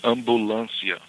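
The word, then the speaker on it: ambulância: It's it's similar to the the way we spell it. Ambulance. Uh but we say a little bit different of course. It's ambulancia.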